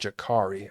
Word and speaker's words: Jakari: I always call him Jakari because that's how phonetically you would say that, but apparently it's pronounced Jakari. I heard him pronounce it Jakari, so that's what I'm going to say.